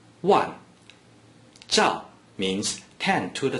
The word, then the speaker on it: 万: Wan is the 4th tone. Please pronounce it after me. Wan.